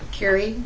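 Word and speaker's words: Kerry: remove your mask State your full name and spell it Carrie k e r r y last name blansky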